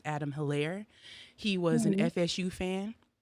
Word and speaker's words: Hilarie: a lot of people in local news were pronouncing it hillary but as i was looking over the court documents and reviewing the case itself it's pronounced adam hillaire he was an fsu fan he was 27